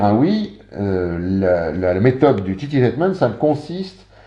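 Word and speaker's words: tittytainment: Sixième outil de l'ingénierie sociale, alors le nom est amusant de cet outil, on l'appelle le Titi-Tainment.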